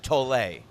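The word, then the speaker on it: Tolle: I don't know the proper pronunciation of his last name, but it is written like tool. T O L L E. Someone told me it's actually Eert Tole.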